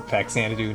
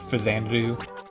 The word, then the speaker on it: Faxanadu: Giddy likes it when you say the X, the hard X in Faxanadu, not Fazanadu.